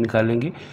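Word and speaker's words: knock: नॉक खटखटाना या दस्तक देना, इसमें भी के की साउंड जो है वो साइलेंट है, ये होगा नॉक खटखटाना या दस्तक देना।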